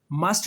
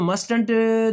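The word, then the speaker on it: mustn't: इसको मस्टंट नहीं पढ़ना। यह जो सेकंड पहला टी है ना यह साइलेंट हो जाएगा। यह हो जाएगा मसंट। ठीक है बच्चों? मस्टंट नहीं पढ़ना इसको। मस्टंट लफ्ज है ये। मस्ट नॉट को मसंट पढ़ना है।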